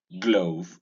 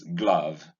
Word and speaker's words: glove: Also, we make the mistake of saying glove. This is glove, not glove. The sound is unrounded.